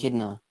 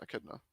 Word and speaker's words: Echidna: It's apparently it's pronounced like the animal. You know what animal I'm talking about? The echidna apparently. Echidna. Yeah, Echidna.